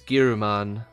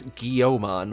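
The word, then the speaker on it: Guilmon: name is for guilty so it should be more like gilman in english i guess but you know in japanese it's gyruman which is harder to pronounce and then dub it's guillemon which i don't know where that came from but whatever anyway let's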